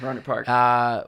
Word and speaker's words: Rohnert Park: Is that how you pronounce it? Yeah, Rohnert Park. What's this place like? How does this shape you into who you are today? It's so now many people know Rohnert Park is in Northern California, Sonoma County to be